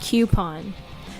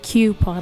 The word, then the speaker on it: coupon: I have to say I'm very impressed with your pronunciation of the word coupon, because every Pittsburgher I know says coupon with it, like coupon, like Cupid.